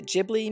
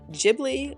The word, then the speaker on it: Ghibli: Now let me say that there are two ways to pronounce Ghibli or Ghibli. The founder, Hayao Miyazaki, has said you can pronounce it either way, but our tour guide said Ghibli is correct, so that is how I will pronounce it here.